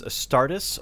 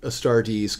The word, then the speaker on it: Astartes: I think that's it I've heard it pronounced both ways by people at Games Workshop is it adeptus a startus or adeptus astartes they do tend to go with the e's at the end a stardees custodies arpitis that makes